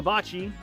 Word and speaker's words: Hilda Baci: May 15th, Hilda Baci. I would think that's pronounced Baci, B-A-C-I.